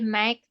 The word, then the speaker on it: might: Jadi might ini G-nya tuh silence. Jadi cara bacanya might.